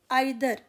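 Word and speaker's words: either: अब आते हैं आइदर। आइदर वर्ड जो है, इसको ईदर भी प्रोनाउंस करते हैं कुछ लोग।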